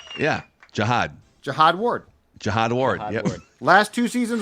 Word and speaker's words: Jihad Ward: Dallas Turner Andrew van GLE and I'm GNA pronounce this one right too Jihad Jihad ju U capital h o d yeah Jihad Jihad Ward jiad Ward last two seasons with the Giants